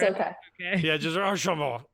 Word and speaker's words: Archambault: I say your name really fast in case I screw up your last name, the pronunciation. If you just slur It's it, okay. Yeah, just Archambault. It's just Archambault.